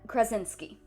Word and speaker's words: Krasinski: John, I'm gonna butcher his last name, John Krasinski. Yeah, that's how it's pronounced.